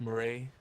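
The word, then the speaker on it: Moretz: I believe her last name is pronounced Murray.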